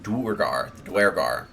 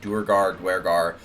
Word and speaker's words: Duergar: There's the drow for the elves, and then the Duergar, depending on how you want to pronounce it. Duergar for the dwarves.